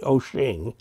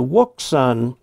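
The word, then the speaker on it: Wouxun: this pronunciation is apparently ocean and the wok sun normally would not be pronounced quite that way but the chinese version of it is pronounced ocean this is one of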